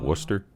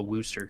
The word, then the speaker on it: Worcester: before I think about Worcester it's Worcester it's Worcester but like people not from around here call a Wooster yeah technically with the double O it should be woo but it's Worcester but